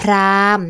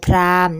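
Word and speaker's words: พราหมณ์: ไป ค่ะ Prime the prime นะ คะ ขา ซึ่ง จะ มี หอ หีบ รา กด อยู่ ใน คำ ด้วย แต่ ว่า เวลา เรา อ่าน เรา จะ ไม่ อ่าน อ่าน ออก เสียง หอ ยี นะ คะ จะ อ่าน ว่า พอ รอ อา มอ Prime นะ คะ ขา และ นี้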